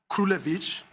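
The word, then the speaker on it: Krulewitch: It's the matter of Krulevich versus United States, and I'll spell it.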